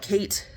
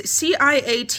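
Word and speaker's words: Ciaté: I say this brand name wrong all the time. I always call it Kate. It's Ciate London, but I always call it Kate, whatever.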